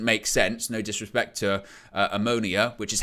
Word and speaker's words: Omonia: No disrespect to Omonia, which is how to pronounce the name.